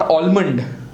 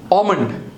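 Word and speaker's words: almond: इट is your so here the एच is silent next we have is एल एल नॉट आलमंड बट आमंड बदाम नेस क्या हु है ंड बाम बालम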